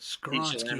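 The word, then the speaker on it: Skoronski: Pronounce the name again. Skoronsky, I got you.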